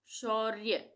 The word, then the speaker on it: शौर्य: श्रावस्ती श्रावस्ती शौर्य शौर्य यहां पे र के रेफ की मात्रा आ रही है ये ये है रेफ की मात्रा यहां इसमें हम र को आधा उच्चारण करेंगे र का और य का पूरा होगा।